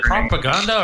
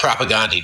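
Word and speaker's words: Propagandhi: Do you ever is it Propaganda or is it Propagandy? I don't ever know how to pronounce it. Oh, Propagandy, dude.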